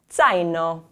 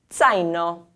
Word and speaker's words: zaino: The AI sound is like zaino. Ai, zaino.